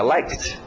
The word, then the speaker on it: liked: want ficou Wanted Ok às vezes é só o som de um t como like fica liked né E às vezes